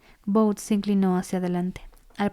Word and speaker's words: Kvothe: Me llamo Kvoth, que se pronuncia... Kous.